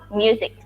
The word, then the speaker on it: music: Then, listening music. Ini bacanya pakai Z. Music. Listening music.